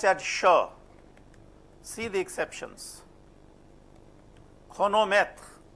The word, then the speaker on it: chronomètre: Chronomètre. See, here it is cr.